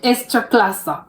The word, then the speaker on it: Ekstraklasa: Okay, it's Ekstraklasa, because I know that I was mispronouncing that so badly.